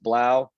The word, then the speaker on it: 3LAU: If you don't know who Blau is, he spells it 3LAU, but it's pronounced Blau.